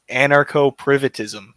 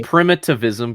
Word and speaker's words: primitivism: I think you butchered that pronunciation. Primitivism? I thought it was anarcho-privatism. Yeah, something like that. Yeah, primitivism. No, it's primitivism because you're becoming a primate.